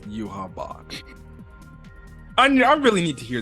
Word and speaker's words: Yhwach: finally got it right it's not your watch or whatever you mean it's you have Bach which is actually how they pronounce it during the episode it's gonna take me